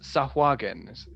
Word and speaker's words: Tsojcanth: Anyway, yes, Tsojcanth is my preferred pronunciation.